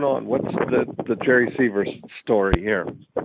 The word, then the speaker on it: Sievers: Seavers. Seavers, okay.